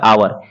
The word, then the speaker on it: hour: इसी तरह से आप इसमें देख सकते हैं HOUR, इसमें एच जो है वह साइलेंट हो जाएगा, यानी कि इसको हाइड कर देंगे, छिपा देंगे तो हो जाएगा आवर, यानी कि इसका मतलब होता है घंटा।